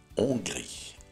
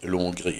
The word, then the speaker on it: Hongrie: Обратите внимание, как произносится la Hongrie. Не la Hongrie и ни в коем случае не l'Hongrie, это вообще кошмар. La Hongrie.